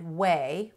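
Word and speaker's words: Ouai: she's very entertaining and she created the brand whey which is spelled o-u-a-i and i really like a lot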